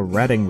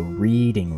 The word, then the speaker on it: Reading: though it's a common mistake like how people pronounce the redding railroad as the reading railroad anyways 1325 was designated as a cnor